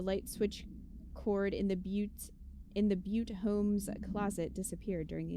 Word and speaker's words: Butte: A spate of disappearances was traced to a home in the city of, I think it's actually pronounced Butte, where Bureau agents discovered a translocative light switch cord.